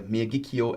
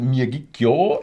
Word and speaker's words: Miyagikyo: Miyagikyo is yo. And Yoichi is also yo.